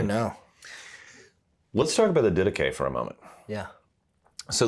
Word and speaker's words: Didache: People always pronounce it wrong too. You hear a lot of Didache. Didache, yeah. Didache.